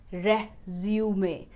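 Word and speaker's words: résumé: the correct pronunciation is reh-zu-may, The middle syllable will be stressed.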